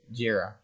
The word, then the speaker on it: Gira: What is Jira? It's spelled as Gira. Jira. Jira is the CEO, which is who owns the Kometa.